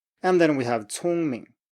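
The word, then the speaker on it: 聪明: And then we have 聪明, 聪明.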